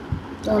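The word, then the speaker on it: ton ami: Then next is Tonami. Toani. tonami. Tonami. No ka sound dij please. Tonami, please repeat. Tonami. Yes. And what is this one? Tonami.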